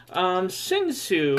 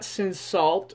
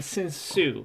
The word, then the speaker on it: Cinsault: So, Sinsu, it's not Cinsault or Cinsol. Although the second syllable is Sault, we call it Saw. I mean, Sinsu. You call it Sault Ste. Marie, not Saw Ste. Marie.